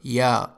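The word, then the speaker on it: ي: yehud which means jew ya is pronounced like y in the word yes whenever it is preceded or followed by a vowel the word yujet is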